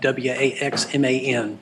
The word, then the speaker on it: Waxman: The name's pronounced like Waxman, just like Waxman.